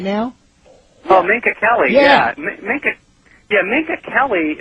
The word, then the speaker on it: Minka Kelly: Uh not going to change the subject, but Ninka Kelly, is that a correct pronunciation of her name? Sorry, say again. Yeah, Minka Kelly. Is that Derek Jeter's dating right now? Oh, Minka Kelly.